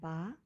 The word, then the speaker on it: ဘယ်: in green and vowels in red the first syllable combine the consonant bar with the v a which has a low